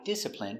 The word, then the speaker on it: discipline: n discipline discipline discipline Stress on the first syllable.